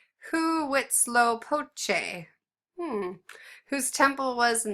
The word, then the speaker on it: Huitzilopochtli: It's pronounced Huitzilopochtli, hmm, whose temple was in the south, and